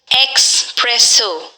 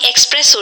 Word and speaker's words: espresso: those who speak english as their second language expresso treat yourself to a yummy espresso shake any time of day plum er a